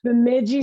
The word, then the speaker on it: Bemidji: Bemidji State. Bemidji State, thank you. Took me like a year to learn how to pronounce that.